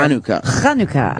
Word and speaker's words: Hanukkah: And do it fast, because next week is Hanukkah. It comes early this year. Hanukkah is how it's pronounced.